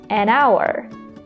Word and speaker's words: hour: The first letter is H, which is not a vowel, but we don't pronounce it in this word.